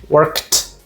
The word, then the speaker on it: worked: Ou seja, o E você não pronuncia e o D assume esse som de T. Então, ó, work, worked, stop, stopped, laugh, laughed.